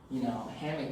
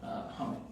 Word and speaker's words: hummock: And also to explain, hummock and hammock, hammock is kind of this Americanized iteration, but originally it's called hummock, because a hummock is a raised body of land, so it's always called hummock. That's how the folks pronounce it.